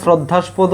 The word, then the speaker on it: শ্রদ্ধাস্পদ: এই যে হচ্ছে তোমার শ্রদ্ধাস্পদ সঠিক উচ্চারণ হইছে শ্রদ্ধাস্পদ এই যে শ্রদ্ধাস্স্পদ ঠিক আছে শ্রদ্ধাস্পদ